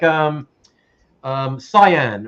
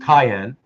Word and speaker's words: cyan: a type of blue, like cyan, or actually it's actually supposed to be pronounced cayenne.